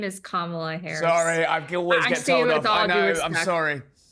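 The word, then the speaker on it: Kamala: intelligent to say her name her name is kamla Harris that's Point number one point number two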